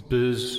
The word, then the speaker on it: Bose: It's Bose. Bose. I've got a pair of Bose. I think it pronounced Bose.